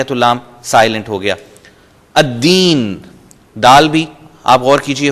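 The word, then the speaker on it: الدين: الف لام آتے ہوئے لام سائلنٹ ہو جائے گا، اور جو ہی ہم بول رہے ہوں گے تو لام کو ہم پروناؤنس نہیں کریں گے، جیسے میں نے آپ کو مثالیں دے دیں، الشیطان، الرجیم، الدین۔ دوسرے حروف ہم ان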